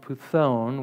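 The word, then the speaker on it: πύθων: spirit is uh a greek word which is pronounced python which is where we get our english word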